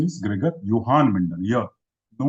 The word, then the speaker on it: Johann: So he's not, the correct pronunciation is Gregor Johann Mendel.